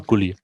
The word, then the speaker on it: Gully: Aber es wird deutsch ausgesprochen, also Gully.